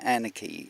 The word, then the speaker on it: nrKe: So to get it all started, the nrKe network is it's spelt nrKe, but it's an anarchy stuff.